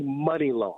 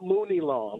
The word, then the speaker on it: Money Long: It's actually Money Long. Money so Long. I just want to let Okay, you know. that makes sense. You know what? It's That's a better pronounced Money name. Long, not Mooney Long.